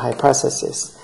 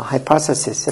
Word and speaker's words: hypothesis: hypothesis 이음절의 형태가 있어서 hypothesis 이렇게 발음해야 돼요.